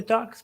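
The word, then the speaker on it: DUKW: You know, the duck's pronounced duck.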